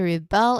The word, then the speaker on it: rebel: The citizens the citizens began to rebel against unfair law. unfair law. Which one is it? That's the verb. Stress on the second syllable.